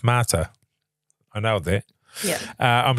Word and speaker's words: mater: This comes from the Latin word mater, pronounced mater.